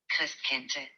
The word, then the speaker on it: Christkindl: Other German children write their letters to, listen carefully, this is how you pronounce this word. Christkindl.